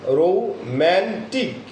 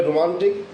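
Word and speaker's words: romantic: তাহলে ফ্যান্টাস্টিক, আমরা ফ্যান্টাস্টিক, অর্থাৎ ঠ্যাস ঠ্যাস, এই যে ঠ্যাস, এই শব্দটা আমরা বেশি বেশি উচ্চারণ করে যাচ্ছি। সো রোম্যান্টিক, আমরা যদি বলি রোমান্টিক, আগে বলতাম আমরা, বাট এখন যখন আমরা এটা স্ট্রেস মার্কস দিয়ে বলবো তখন রোম্যান্টিক, কি বলবো, রোম্যান্টিক।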